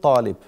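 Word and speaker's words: الطالب: A Talib is one of the examples where you don't pronounce the lam, but it's still written At-Talib. You pronounce only the A, the first of the two letters.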